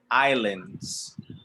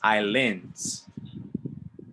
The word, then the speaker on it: islands: very important i lens islands not islands islands not islands islands islands yes the s is silent and the a is pronounced like a i islands like linda island